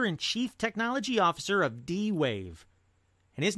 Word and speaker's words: D-Wave: Duane quantum - and I didn't say Dave him and I didn't mispronounce Dave it is DWA ve quantum - the what yeah